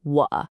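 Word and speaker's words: 我: First up, we have the character wa, pronounced wa. This is the word for I or me. And yep, you guessed it, it's another third tone. So let's use what we've learned and get that dip and rise pronunciation just right.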